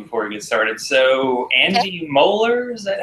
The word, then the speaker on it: Andy Moeller: So Andy Moeller, is that how you pronounce his name?